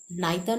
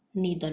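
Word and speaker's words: neither: ऐसे ही नाइदर नॉर, नीदर नॉर, कुछ भी इसको प्रोनाउंस कर सकते हैं।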